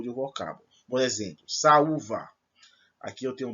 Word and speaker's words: saúva: Por exemplo, saúva. Aqui eu tenho 2 sons fortes. Saúva. Não é salva, não. É saúva. As duas são fortes.